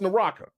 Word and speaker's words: Naraka: So it's Naraka, right?